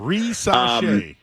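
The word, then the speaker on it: Risacher: I think I got that one right. That's the pronunciation. Woj just said it, so if he said it that way, I'm pretty confident. Rissache.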